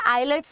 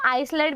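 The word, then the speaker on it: islet: The endocrine cells of pancreas form groups of cells called आइलेट्स of Langerhans. आप इसको आइसलेट भी बोल सकते हो या आइलेट भी बोल सकते हो, और यहाँ पे आर आएगा।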